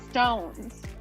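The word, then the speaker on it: SixTONES: to pronounce it and i guess that they pronounce it stones just just a little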